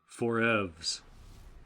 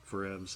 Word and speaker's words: 4EVZ: here for the feature length commentary for FP Forevs. That has confused a lot of people. Yes, I liked how they pronounced it here in Australia, FP4EVZ. And Yes, it's like, EVZ. no, it's for Forevs, like forever.